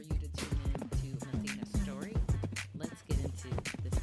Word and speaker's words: Mathena: Can you pronounce your name for me? Let me say it right. Mathena.